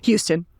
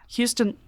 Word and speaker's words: Huston: has one of the best parks in Denver, Huston Lake. Is that how you say it? Houston. Yeah. Houston.